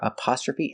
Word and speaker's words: apostrophe: plus apostrophe s apostrophe the first sound is a short uhuh like cup and up uh uh up a p we have the short sound a like stop and hot a a apostrophe TR